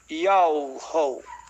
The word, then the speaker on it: Yahweh: E daí o Altíssimo mostrou para mim, me fez saber a pronúncia do seu nome, Yahweh.